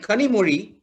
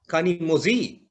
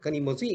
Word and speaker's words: Kanimozhi: And on the TV, he's talking about her Kanimozhi. He pronounced the Z also. This is how we are writing it, Kanimozhi instead of Kanimozhi.